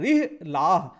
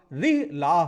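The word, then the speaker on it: رحلة: Battuta की किताब है रिहलाह, रा पे छोटी ई की मात्रा, हा और ला पे बड़े आ की मात्रा, और हा रिहलाह। तो दोनों में कंफ्यूज मत होइएगा, इसलिए मैंने इसको प्रोनाउंस करके आपको ठीक तरीके से बताया।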